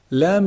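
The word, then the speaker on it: ل: Lam is actually pronounced from the tip of the tongue when it hits the gum or the gums of the upper incisors. La. Lam, lam, la, la. Make sure there's no ghunna in your lam. There's some common mistake where people do produce ghunna with the lam.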